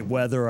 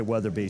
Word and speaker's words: Weatherbee: my fault because I I mispronounced your name at the beginning I just said weather I didn't say weather be so that's my fault